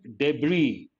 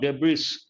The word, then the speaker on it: debris: we use the word debris the letter s is silent not debris debris remains off a